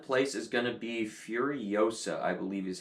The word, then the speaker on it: Furiosa: Coming in 10th place is going to be Furiosa, I believe is how you pronounce it.